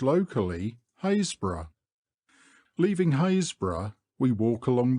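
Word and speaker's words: Happisburgh: by the postal authorities hapsburg by the villagers Hasbro and by the Trinity board hbro it is pronounced locally hazb leaving haor we walk along the beach Southward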